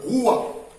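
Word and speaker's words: רוּחַ: Et quand on parle du vent, cela renvoie en hébreu Roua. Roua s'écrit avec R-U-A-H. Roua.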